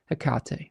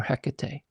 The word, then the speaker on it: Hecate: And we have a spirit in this deck in Hekate or Hecate, however you want to pronounce that.